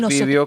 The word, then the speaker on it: vídeo: Igual acá en España, por ejemplo, la palabra video con acento en la I. Sí, en España es vídeo Y con tilde nosotros en la decimos I. video. Sin Y nosotros embargo, la decimos video. academia ya acepta esas dos versiones.